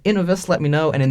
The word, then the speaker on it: Inovus: has two ends and this has one n so i think it'll be pronounced inovis but i'm not a grammatical expert by any means so if you guys think it should be pronounced innovus let me know and